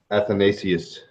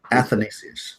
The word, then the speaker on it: Athanasius: Athanasius. Athanasius. Why? That's how it's spelled too. I don't know why I keep. Think of Nathan. Athanasius.